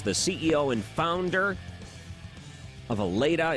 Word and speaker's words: Allata: Thank you so much for coming on to WORD, and I want to make sure I'm pronouncing that right. Is it Aleda?